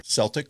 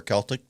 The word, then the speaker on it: Celtic: wanted something a little more Celtic or Celtic depending on where you're from on how you pronounce that.